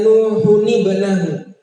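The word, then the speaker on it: نُوحٌ ٱبْنَهُ: Wa nada Nuhun ibnahu, Nah, tanwin ketemu apa? Ketemu sukun, maka bacanya bukan nuhubnahu tapi nuhunibnahu, ada nunnya. Nuhunibnahu.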